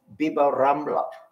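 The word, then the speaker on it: Bib-Rambla: Now, in Spanish Arabic, there is a linguistic phenomenon known as al-imala, which means that the long A, alif, is pronounced as long I.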